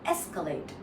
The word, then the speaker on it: escalate: You stress on the first part that's all you remember. Escalate. And the la uh the last part has an a sound.